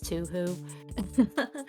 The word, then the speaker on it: Touhou: a discussion about what the proper way to pronounce Touhou is don't tell anyone I said it's to who and of course uh